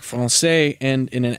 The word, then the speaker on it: français: So if you know anything about French, you know that words like français end in an S in French orthography. And that seems weird, right? Because there's no S when you're pronouncing it.